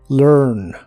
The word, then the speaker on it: learn: de inglés es learn se pronuncia como learn pero pones tu lengua lo más atrás que puedas Así que debe sonar como monstruo learn learn y lo puedes